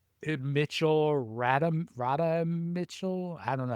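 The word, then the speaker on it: Radha: Mitchell Rat Rada Mitchell. I don't know how to pronounce her first name.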